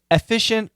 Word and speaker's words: efficient: efficient to efficient yeah she's using a short e so this is a schwap um even though she says efficient with definitely a short e I would call it the short e version of schah the perfect schah uh but it's possible